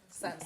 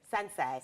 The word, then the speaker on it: Tsansai: guest this morning Sans help me SanSai SanSai miss our name of silent letters I don't know why